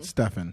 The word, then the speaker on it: Stephen: Yes, she's married, and baby mom of is it pronounced Stephen or Stephen? Stefan. Stephen Curry.